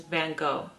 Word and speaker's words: Van Gogh: Now, I pronounce his name the way that Americans pronounce it, which is Van Go.